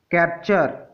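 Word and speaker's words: capture: तो जब भी टी के बाद UR आए तो टी का उच्चारण च हो जाता है। उदाहरण से समझते हैं। कैप्चर, कैप्चर मीन्स होता है पकड़ना।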